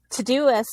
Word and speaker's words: Todoist: with Todoist, did I say it right? Yeah. Yeah, with Todoist, that app, yes.